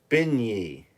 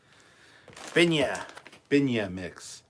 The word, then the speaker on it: beignet: scotty broken speaker three and three dollars it's pronounced ben ye delicious oh and money beignet there you go that's what that box is binya okay i couldn't be a spokesperson for them